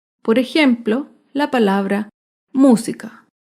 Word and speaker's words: música: por ejemplo la palabra música música se acentúa en la antepenúltima sílaba y música todas las